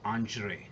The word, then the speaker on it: Andrzej: and by the way, the way it's pronounced is Andrzej. Okay, it's a Hungarian name, and it's Andzrej, and the pronunciation is Andrei Shali.